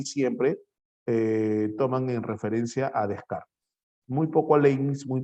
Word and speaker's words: Descartes: El máximo representante del racionalismo es Descartes, o Descartes. Se pronuncia Descartes. Nosotros en español, Descartes.